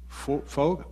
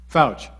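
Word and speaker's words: Feucht: weeks this is an announcement for everybody sean foge how do you say his name fouch sean fouch he's a bethel uh worship leader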